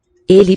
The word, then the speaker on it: ele: but in the word ele, he, the first syllable is much longer. Ele. The second is just added on an afterthought, lightweight.